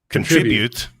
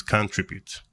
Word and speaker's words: contribute: up until recently was contribute. where the emphasis is on the con while the emphasis is on the trib in American.